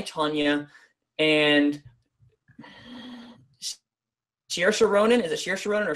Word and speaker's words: Saoirse Ronan: 3 Billboards, Margot Robbie in I, Tonya, and Saoirse Ronan. Is it Saoirse Ronan or Saoirse Ronan? Saoirse. I was right first time. Saoirse Ronan.